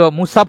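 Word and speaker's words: مصحف: সেই মুসাব দুঃখিত মুসাব হবে উচ্চারণটা দেখি আমার বাংলা উচ্চারণও ভুল হয় ক্ষমা করবেন সেই মুসাব আজও অক্ষরে অক্ষরে একই রকম আছে।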